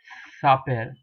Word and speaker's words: s'appelle: Now it is called as the verb to call, or in French you pronounce it as le verb s'appelle. Now this apostrophe I have mentioned to you what it is in my special characters lecture.